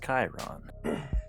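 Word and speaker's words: chyron: it and it's pronounced Chiron Chiron Kanye like the Centaur like the Romans 300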